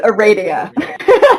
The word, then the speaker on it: Aradia: and a radio I swear to god it's a radio radio to train literally everybody I meet on